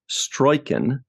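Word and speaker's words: Struycken: One other person I wanted to point out is, I believe his last name is pronounced Stroiken, Carol Stroiken, Mr.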